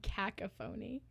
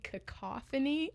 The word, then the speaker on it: cacophony: Alex is like, "Are you trying to say cacophony?" Like, "That's how you pronounce that?" I just read it in Phantom Toll Booth and my little kid brain just pronounced it like that.